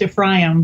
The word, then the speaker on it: Ephraim: Well, biblically, it would be pronounced Ephraim, but.